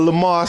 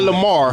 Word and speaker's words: Lamar: Hey, if y'all don't know, the pride of Lamar, South Carolina, right here, man. Lamar. Not Lamar. Lamar. Ain't no R on that thing. Lamar. The R is silent.